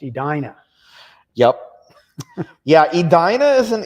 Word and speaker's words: Edina: When they pronounce it, it's pronounced Edina.